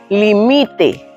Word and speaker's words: limite: En la segunda, límite, la que suena más fuerte es mi límite, que es ahí es el presente del del verbo limitar en modo subjutivo o en modo imperativo.